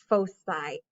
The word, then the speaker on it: foci: so i just learned that this word is pronounced foci i thought oh my god everyone i've ever